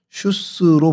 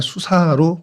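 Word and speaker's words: Shush: 페르시아로 슈스로 부르고 있습니다. 그러니까 같은 어 단어인데 이제 발음이 좀 페르시아로 가면서 조금 변형된 것이 슈스입니다. 그래서 어 슈스라고 하고 또 영어로는 구글 지도나 이런 데는 그냥 수사로 표현이 되고 있습니다.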